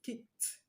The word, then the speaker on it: kicked: The ed at the end of kick is going to be pronounced as t, because the last sound of the root word kick ends in k sound, which is one of the voiceless consonants that I gave you.